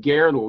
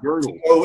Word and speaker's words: Gödel: Gödel. Okay, Gödel. It's an O with an umlaut in German.